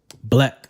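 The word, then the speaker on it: 6LACK: would have to be mr. six lack black let spilt like six let Easterling right so coming in at number four is mister six lack black but spelled like six like Easterlin a love letter enjoy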